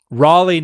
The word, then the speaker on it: Raleigh: who were not eyewitnesses so Raleigh not Rally well beg your pardon